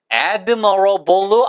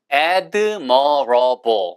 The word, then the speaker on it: admirable: 발음이 admable 앞으로 액센트가 있고 발음도 admirable이 아니고 admirable admable 됐죠?